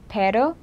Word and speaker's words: pero: There's also pero, which means but, and perro, which means dog. So you kind of need that distinction. You can learn how to trill your tongue.